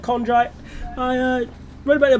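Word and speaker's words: chondrite: Is that how it's pronounced? Condrite. C H O N. Yeah, Condrite. Sorry, I said I said condre.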